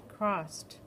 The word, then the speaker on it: crossed: write ed mm-hmm and it's pronounced crossed did you hear that tea again sneak in there crossed I crossed the street oh I didn't hear that D it's sneaky this ed